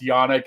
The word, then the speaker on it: Janik: Mike, while we're admitting things, my last name is pronounced Janik, not Janik. So.